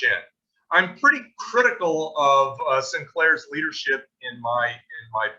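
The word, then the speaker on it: St. Clair: american commander major general arthur sinclair that's his uh sinclair actually it's pronounced sinclair on the left there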